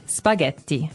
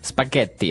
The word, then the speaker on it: spaghetti: spaghetti spaghetti oh you pronounce the double t as well.